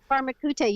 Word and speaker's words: Pharmakeute: I think it was Pharmakeute. Pharmakeute, you absolutely did.